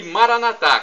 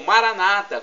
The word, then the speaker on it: Maranatá: E Maranatá, como dizemos nós católicos, ou Maranata, como dizem nossos irmãos separados, os evangélicos ou protestantes, não importa a pronúncia, o significado é o mesmo.